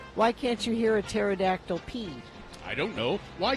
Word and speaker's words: pterodactyl: I thought it was pterodactyl go to the bathroom. Was that it? No, Maybe it has that was it. No, it has to be pee. Because the P is silent.